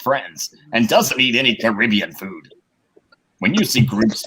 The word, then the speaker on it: Caribbean: A Caribbean, that's how you say it. I keep on saying Caribbean.